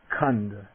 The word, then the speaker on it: khandha: example come come okay now the voiceless aspirate a little puff of air you know the five aggregates kunda okay now the g and